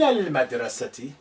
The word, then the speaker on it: المدرسة: Mim is moon letter. So therefore, it's not carrying any shadda, and there's no reason why we should not keep the sukun on the lam of al. Min al-madrasati. But alif is silent because it's not at the beginning.